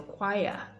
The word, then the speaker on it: choir: So the stress is placed on the choir, choir.